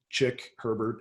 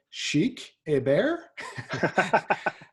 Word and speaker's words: Chick Herbert: had my nametag on chick Herbert and my name is spelled CH IC K and a woman from Montreal came up to me and she introduced herself and she said chic hey bear and I said like